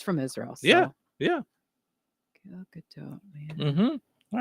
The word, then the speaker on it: Gal Gadot: Gal Gadot. No, that's how she pronounces it. I've heard her say it on television. Gadot with a T.